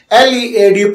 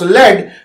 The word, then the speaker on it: lead: For example, LEAD pronounced lead refers to a metallic element and LEAD lead means to guide.